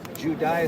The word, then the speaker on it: Judai: Judai is how I pronounce that.